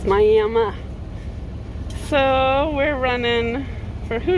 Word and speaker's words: Miami: in here in Miami Oklahoma and don't say Miami because the people here get mad if you say Miami even though it's spelled Miami it's Miami so we're running for who knows how long